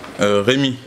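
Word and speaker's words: Rémy: Comment ça se prononce votre nom? My name, Remy.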